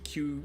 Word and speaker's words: queue: It's spelled weird, but it's just Q.